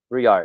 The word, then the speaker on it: Brouillard: Brouillard. Is that close? Brouillard. Yeah. Brouillard. My wife speaks French, and anytime I pronounce like bon appetit, she's like, no, you don't say the T at the end.